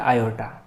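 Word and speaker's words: iota: इसको ये आई से रिप्रेजेंट किया जाता है और इस आई को प्रोनाउंस किया जाता है, बोला जाता है आयोटा।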